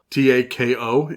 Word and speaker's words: tako: It's pronounced taco. Tako in actual Japanese.